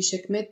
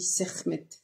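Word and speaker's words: Sekhmet: chem est lié alors je sais pas si la plupart du temps on dit chckm mais je crois que dans la prononciation exacte ça se dit sermmet être lié au soleil au feu lui-même.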